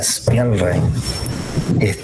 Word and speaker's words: Spielrein: A mí, Sabina Spielrein, así se pronuncia, Spielrein, siempre me pareció, entre